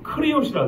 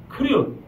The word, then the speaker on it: 그리옷: 25절 중반에 보면 그리옷 있죠? 예. 원래는 여기는 발음이 크리옷이라 됩니다. 크리옷.